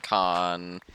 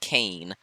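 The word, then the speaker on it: Caen: like take over Normandy con and yes I'm fixed my pronunciation I now know it's not cane oh I still really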